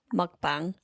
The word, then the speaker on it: mukbang: Mukbang.